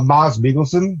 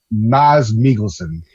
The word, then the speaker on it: Mads Mikkelsen: I thought Mads Mikkelsen, which is the actual pronunciation, it's not Mads Mikkelsen, it's Mads Mikkelsen.